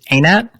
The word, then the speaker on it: Einat: I mean, is it pronounced? It's Einat?